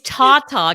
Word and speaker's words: Tata: that to you tonight oh no it's Tata cancer so so Tata like like tatas oh how funny yeah